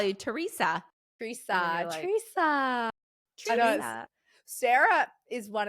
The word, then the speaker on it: Teresa: normal as an American because like Americans will be like Teresa, Teresa. And she calls me with a Z. Like it's pronounc Yeah. I say it with a Theresa cuz that's how we say it in Australia.